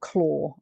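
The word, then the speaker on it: Clauw: Central Sensitization by Daniel Klaw. And do note his surname. I'll put the link in the chat. But his surname is spelt Claw.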